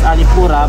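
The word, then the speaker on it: Alappuzha: So Alipura, it's pronounced as Alipura, but when you read it or the spelling of it is Alipusha.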